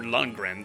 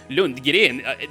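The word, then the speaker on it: Lundgren: Yeah, Shadow Mario 41 would call him Lord Lungren. That's a very American way of pronouncing that. But Lun Girin. That's pretty much a Swedish uh surname or a German surname.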